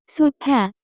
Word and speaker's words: 소파: Many new Korean words are simply English words with the Korean pronunciation pronouncing. 소파. In Korean will sound like sofa. Note that there is no way to pronounce the F sound in Korean.